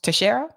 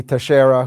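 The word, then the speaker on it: Teixeira: a Portuguese name so the X would be pronounced like an s anywho 21 years old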